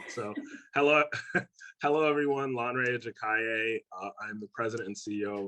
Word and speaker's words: Lanre Ajakaiye: so that and that was a pretty good pronunciation so hello hello everyone lanrey jakaye i'm the president and ceo of 25 bow